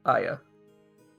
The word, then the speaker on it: Hagia: That's how it's pronounced? I thought it was the Hagia Sophia. It's Aya. Fucking Byzantines making things difficult.